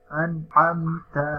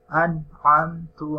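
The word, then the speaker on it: أنعمت: Yang pertama, ini seharusnya dibaca an'amta alaihim. Kemudian salah membacanya an'amtu alaihim. Di sini huruf harokat dari huruf ta, di sini dibacanya dhammah.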